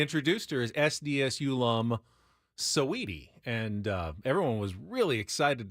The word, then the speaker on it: Saweetie: Can anyone tell me about, I don't know if it's pronounced Saweetie or Sweetie? She was Saweetie. Saweetie.